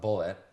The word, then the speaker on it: Bulleit: My favorite bourbon is Bullet. Do you pronounce it Bullet? I pronounce it bullet, just like in a gun, bullet.